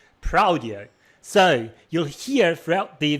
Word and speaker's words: praudio: call this uh library prodo but the pronunciation that I have in mind it's not prodo is actually prao so you'll hear throughout